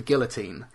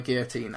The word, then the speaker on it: guillotine: new invention called the guillotine and he he gets freed by gu TR sorry Guillotine pronounce those double L's anyways the the the L is silent which one both of them um the yeah he's